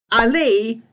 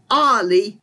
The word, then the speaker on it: Ali: But these names should be pronounced as Omar, not Omar, Ali, not Ali, and the name Ahmed should be Ahmed, because